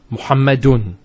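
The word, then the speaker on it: مُحَمَّدٌ: You notice at the end of it is the tanween, Muhammadun.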